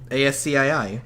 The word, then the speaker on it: ASCII: How is it pronounced? ASCII.